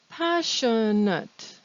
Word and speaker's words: passionate: at is also in line one passionate passion nut now notice the s i o n in the middle of the word that's